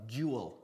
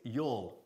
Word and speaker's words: you'll: Ojo, fijaros que no digo nunca you'll, ¿ok? Es you'll, una sola sílaba.